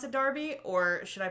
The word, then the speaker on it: Derby: it was Derby only because of a football Darby yeah I just say dark I'd say Derby